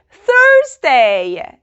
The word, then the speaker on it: Thursday: The 2 most difficult days to pronounce are Tuesday and Thursday.